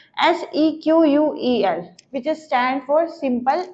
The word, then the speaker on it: SEQUEL: अब EF code ने बात की थी, उसके बाद आईबीएम ने इसको किस नेम से प्रोनाउंस किया था, SEQUEL, which is stand for simple English query language.